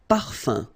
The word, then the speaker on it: parfum: So it's nasal and it's un. So it really goes in your nose. You don't pronounce the M at all. Un. Okay? So par fin. Parfum.